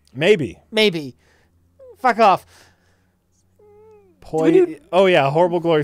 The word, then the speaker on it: Pollo: El Polo Diablo. El Pollo? Is it? Ooh, maybe it's El Pollo. El Pollo Diablo. All right, there you go. I said it right. Maybe. Maybe. Fuck off. Poi. Oh, yeah.